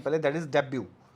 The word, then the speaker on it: debut: यहाँ पे भी एक वर्ड आपको दिखेगा जो जिससे आप मिले जानते हैं पहले, दैट इज डेब्यू, है ना। डेब्यू को हम स्पेलिंग है DEBUT, डेब्यू, that means the first performance of an artist.